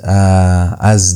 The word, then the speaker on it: eta: And then you have a and a is pronounced e as in obey. Obey. That e sound is uh how you pronounce only that the e is prolonged.